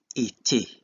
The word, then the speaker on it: été: And in this case, ER is pronounced E.